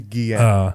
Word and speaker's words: Guillén: I never pronounce his name right. There we go. Harvey Guillén.